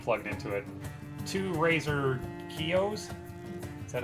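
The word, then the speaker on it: Kiyo: Two Razer Kios. Is that how you pronounce it?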